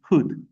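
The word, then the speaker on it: would: Je prononce pas les O et L, je dis hood, W-U-D, hood, be appropriate, okay?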